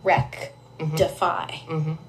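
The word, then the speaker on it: Wrekdefy: that we heard a band called rectify which is spelled very weirdly but i appreciate it it's w-r-e-k-d-e-f-y wreck defy she haunts me and then we started off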